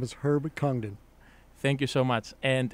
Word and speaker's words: Congdon: Herbert, if you don't mind pronouncing your name again. Hi, Angelo. My name is Herb Congdon.